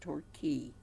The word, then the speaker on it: Torquay: r qu a y so it looks like torque way that's pronounced Torquay and then de my